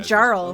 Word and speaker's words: Jarl: It's pronounced Jarl.